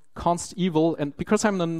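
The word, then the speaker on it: consteval: pronounce it right because it's not evil as it's been something bad it's evil as in evaluated at compile time it's guaranteed in comparison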